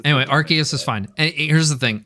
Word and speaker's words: Arceus: they do the nintendo directs have said said it with the hard c okay okay what about